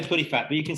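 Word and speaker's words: Puddephatt: didn't scrabble it too badly how do you pronounce it i say putty fat but you can say how you like you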